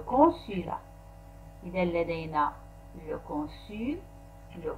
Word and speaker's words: consulat: هنا الت في آخر consulat لا تنطق le consulat.